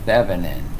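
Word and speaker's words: Thévenin: And you pronounce it Thevenin, just like it's written.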